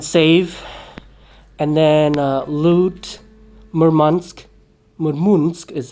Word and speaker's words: Murmansk: Murmansk is how you pronounce it, sorry.